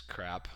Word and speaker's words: CRAAP: it's using an acronym called craap that pronounces crap I know that may